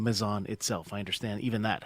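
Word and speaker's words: Mazon: and national meetings to to tell everybody that mison was actually the the correct pronunciation.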